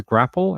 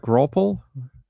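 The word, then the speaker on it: graupel: So imagine apple, but with a GR in front of it. Grapple? Wait, no, that's not how you spell it. Yeah. Sort of like grapple, I guess is the way you would pronounce it.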